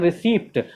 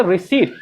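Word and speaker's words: receipt: English में बोलते हैं रिसीप्ट। वो रिसीप्ट नहीं है, वो क्या है, रिसीप्ट। यहाँ पे कंप्लीट जो है पी वो साइलेंट हो जाता है, यानी रिसीप्ट ना बोल के हम लोग क्या बोलेंगे, रिसीट।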